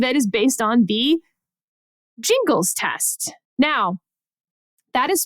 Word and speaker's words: Gingles: Jingles uh uh parenthetical pronounced Jingles with a j born and raised in